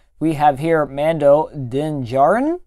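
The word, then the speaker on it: Djarin: have here Mando din Jaron I believe that D is pronounced silent and we have him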